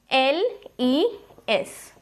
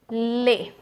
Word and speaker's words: les: Now the pronunciation of this will be lay, and it will be used with plural. Now LES, the pronunciation is lay. Now the S is silent, the last S will be silent.